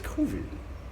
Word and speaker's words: COVID: But also the melancholy that I've got right now is it's COVID. You know, you hear that? I just pronounced it French.